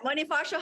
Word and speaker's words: Bonifacio: this Bonifacio High Street is it cool yes Bonifacio High Street that's right yeah I said it